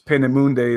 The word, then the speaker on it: Peenemünde: V2 rockets in Germany, and I think it's Peenemünde is the way you pronounce it.